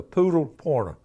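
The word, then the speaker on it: Pudelpointer: It's spelled P-U-D-E-L, but okay, it's a poodle pointer.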